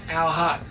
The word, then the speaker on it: Al Haqq: If you can't pronounce the name, just think of an owl, like the bird, and a hawk. Al Haqq.